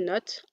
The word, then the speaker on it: not: la prononciation, donc ici j'ai vraiment accentué la prononciation du T du not, I'm not, you're not, is not, mais dans un langage plus fluide, on va quelque part sous-entendre le T.